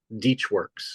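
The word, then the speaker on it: DeatschWerks: it does okay so what's the correct pronunciation de like Peach de works okay cool I just that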